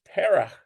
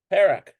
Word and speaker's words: Perek: Look at how this is pronounced. Perek. Perek. Perek Aleph. Perek Aleph. Perek Aleph. Okay, so in the singular, it's like Perek. Which makes it's almost like Parachim instead of Parakim on the plural.